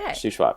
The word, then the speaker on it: Shuswap: that is shash how do you say it shwap shwap shwap okay shwap yeah that's that's north of the Okanagan so